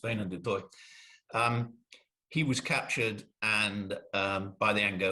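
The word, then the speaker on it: Wynand du Toit: I wrote the book thinking he was called Wine du Toit, and then just for this thing, I thought I'd better find out how he actually pronounced his name, and it's Wayne du Toit.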